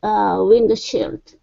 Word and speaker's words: windshield: Okay, so effectively we're really going to skip over that D.